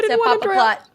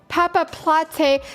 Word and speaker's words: Papaplatte: But the fact that Papaplatte, chat is telling me that you pronounced the E at the end.